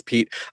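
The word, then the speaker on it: Piet: I think I think most people who who are not Dutch start off pronouncing it that way, but then, you know, my my Dutch friends laughed at me and said, uh, no, that's not that's not right at all. It's Pete.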